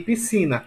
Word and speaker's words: piscina: Em piscina, Na é a última e Si é a penúltima.